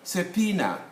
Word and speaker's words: subpoena: As you can see, the B, subpoena.